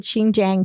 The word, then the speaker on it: Xinjiang: it up i heard it that's how you pronounce it xinjiang china over like the past two years um